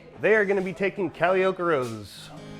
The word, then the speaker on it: Calliope: And the correct pronunciation for this is Calliope. Calliope.